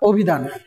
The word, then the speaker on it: অভিধান: এই যে অভিধান, আমরা ও উচ্চারণ করছি, ও লিখলাম অভিধান।